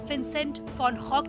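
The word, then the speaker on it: विंसेंट वैन गॉग: 18वीं सदी के मशहूर चित्रकार विंसेंट वैन गो, डच भाषा में इसका सही उच्चारण है विंसेंट फॉन गॉग, ने इसे बनाया था, जो आज भी करोड़ों चित्रकारों की प्रेरणा है।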